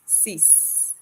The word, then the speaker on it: six: we're at number six it's spelled six but it's pronounced cease set wheat notice we